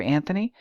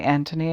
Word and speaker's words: Anthony: word anthos meaning flower in Britain the historical pronunciation predominates for both spellings while in the United States the spelling pronunciation is more common when the Anthony is being used okay